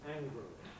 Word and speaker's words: angrily: Clearly, predominant by far is with a schwa pronunciation, angrily.